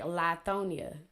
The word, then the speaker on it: Lithonia: Look at the Carla Hughes case in Mississippi, and Lithonia is pronounced like Lithonia, just for people from Atlanta.